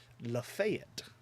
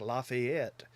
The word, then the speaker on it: Lafayette: where I live is Lafayette, and it's spelled like Lafayette, but if you call it that, nope, they'll correct you over there too. It's Lafayette, and they don't do the French Lafayette.